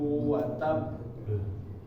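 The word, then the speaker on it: تب: Di akhirnya lahab, lahab, watab ya, watab ya, tabbat yada bilahabi watab. Kalau yang pertama itu tasdid biasa ya, tabba. Kalau yang terakhir itu yang diperjelas di akhir, watab, watab. Jadi jangan semuanya dihentak. Watab.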